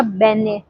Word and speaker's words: beignets: वहाँ का बेने ये फ्रेंच आइटम है, उसका स्पेलिंग है BEIGNETS, बट उसको बोलते हैं बेने।